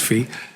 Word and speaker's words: Fe: a fee perspective right fee as in the fee language fe right pronounced fee um i i don't